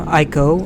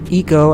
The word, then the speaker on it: ICO: Shadow of the Colossus is a prequel to Team Ico, or Eco as I think it's actually pronounced. Original game, well, Eco, I-C-O. 3 letters.